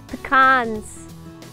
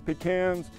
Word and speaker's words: pecan: like you thank you peans pean uh is the correct way to pronounce it oh and these are lovely pecans these are halves oh whoever says peans you could almost bet they live east of the Mississippi oh I like to